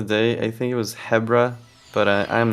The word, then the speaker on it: Hebra: yeah that's the one if you're going by the Japanese pronunciation okay well then it's probably Habra me and my you